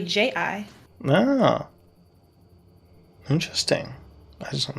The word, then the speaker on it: chi: Well, it's kind of like Tai Chi. Yeah. Like everyone says chi, and it's spelled here around CHI. Yeah. But it's really JI.